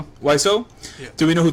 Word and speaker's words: Wiseau: Oh, it's actually Wiseau. It's pronounced.